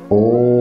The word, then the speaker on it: ओम: एक साधारण तरीके से बोला जाता है। ओम दूसरा तरीका है ओम ग पर अम की बिंदी ओम का उच्चारण किया जाता है। और तीसरा प्रकार है अ ओम म अ उ और म इन इन तीन अक्षरों को मिलाकर ओम ओम का नाद किया जाता ओम ओम इस